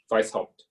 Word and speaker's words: Weishaupt: Por muy benignos que sean los objetivos de los Illuminatis, de Weishaupt, ¿cómo se pronuncia? Bávaros. No, el apellido Weishaupt. Ah, ya. Weishaupt.